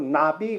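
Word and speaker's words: נביא: 선지자 그러는 거를 어 히브리어로 나비 그래요 나비야 나비는 그 나비 그 발음 똑같아요 그 복수 꼴로 만들면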